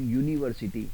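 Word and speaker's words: university: चाहे आगे कंसोनेंट है और जैसे आप बोल रहे यूनिवर्सिटी आगे आपके स्वर है यू है यू एक वल है इंग्लिश का लेकिन उसका उच्चारण यूनिवर्सिटी हिंदी के यू से हो रहा है और हिंदी का यू जो है वो एक व्यंजन है तो इसलिए वहां प क्या लगेगा ए यूनिवर्सिटी हम कभी एन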